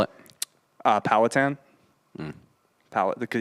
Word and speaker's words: Powhatan: from here on out how do you actually spell it uh powhatan um palette because it's just the group it's